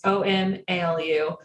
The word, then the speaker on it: Omalu: Bennett Omalu, I think is how his last name is pronounced. It's Omalu.